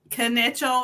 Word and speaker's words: Kital: many people definitely Christy kital she's the owner of Kell Logistics I said it wrong kital with a K yeah you say I thought the K was silent no it's like a